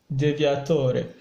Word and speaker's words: deviatore: here in Italy we call it the realtor Divya Toa Italian pronunciation so the diagram goes like this normally